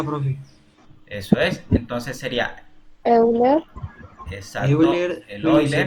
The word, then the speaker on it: Euler: Como fuera en español, pero este señor es suizo y se pronuncia Euler, ¿cierto?